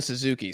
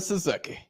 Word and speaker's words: Suzuki: Zion Suzuki. That boy sounded like a Zion- linebacker. He sounded like an offensive lineman. They pronounce it like Kentucky, but with a Z, not a K.